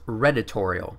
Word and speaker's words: Redditorial: First of all, it's pronounced Redditorial, like editorial but with red line in it, so... Redline, editorial, Redditorial, supposed to be clever.